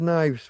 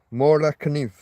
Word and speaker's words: Kniv: Mora Kniv. Because you pronounce the K in most of those countries.